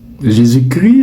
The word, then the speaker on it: Jésus-Christ: Mais quand il est précédé de Jésus, l'Académie française recommande de ne pas prononcer le S et le T. Donc vous ne direz pas Jésus-Christ, mais vous direz Jésuschrist.